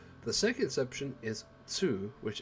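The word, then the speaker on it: つ: the second exception is tsu which adds a s sound and is pronounced with the less emphasis on the t they slide that happened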